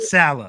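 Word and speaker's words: Saleh: Will the defense Robert Salah put some respect on that name.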